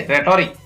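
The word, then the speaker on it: rhetoric: फिर इसको पढ़ेंगे रेटोरिक, तो यहाँ पर भी H का उच्चारण नहीं होता है।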